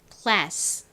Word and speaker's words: class: 무슨 소리가 나죠 소리가 나죠 그래서 합쳐 보면 class class라는 발음이 됩니다 한번 따라해 보세요 class 교실 반은